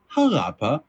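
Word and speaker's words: Xalapa: to pronounce here uh zapa x a l a PA a of course uh also known though as harapa spelled uh with a J in place of that x uh it's the capital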